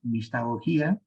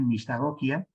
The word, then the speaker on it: mistagogía: castellano entiendo yo pues se puede pronunciar la palabra con el acento tal como se encuentra en la palabra original griega mistagogía o también pienso que sería legítimo decir mistagokia sí digo pues siendo